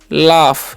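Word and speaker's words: laugh: क्या पढ़ते हैं क्राई और एल ए यू जी एच है तो इसे हम लोग पढ़ते हैं लाफ यहां पर जेज का उचा जो है फ हो जाता है और इसे पढ़ते है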